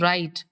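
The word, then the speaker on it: Wright: WRIGST, the pronunciation is राइट।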